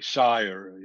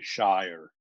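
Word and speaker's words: Szájer: Maybe Sire, in Hungarian, we pronounce SZ, the reverse from Polish. So we say Sire, they would say Shire, but it's the same German originally name.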